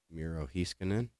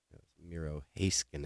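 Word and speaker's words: Miro Heiskanen: peachy you sent me mirojiskinen I mispronounced this guy's name over and over and over again the last time I was showing his cards so it's Miro hey skin and let me get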